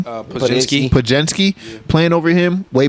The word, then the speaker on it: Podziemski: Podziemski.